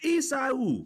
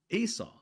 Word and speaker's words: Esau: said like, "And the twin brother's name was Isa." I said, "Isa, my middle name is that twin brother's name, Esau."